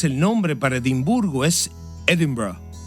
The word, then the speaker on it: Edinburgh: Sí, debes pronunciar la R bien fuerte. En inglés el nombre para Edimburgo es Edinburgh, y así es como lo pronunciamos en Escocia.